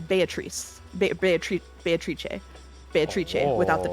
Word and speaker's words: Beatrice: will say that uh the Japanese pronunciation is based on Italian pronunciation which I checked ahead of time and is Beatrice be bee bee without